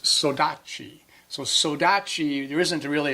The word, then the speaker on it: saudade: The Portuguese word, which is spelled saudade, is pronounced saudade.